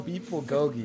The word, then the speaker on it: bulgogi: there's Korean style beb GOI got Korean style beb GOI that's how you pronounce it which I really like in The